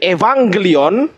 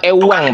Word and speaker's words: Evangelion: Bukan ewang, Pak. Evangelion.